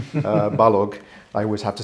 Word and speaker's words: Balogh: pronounce my name uh balog I always have to say balog hard G like Kellogg because it comes across